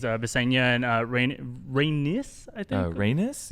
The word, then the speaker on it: Rhaenys: Rhaenys? Yeah, the other sister. Yeah, it rhymes with anyway.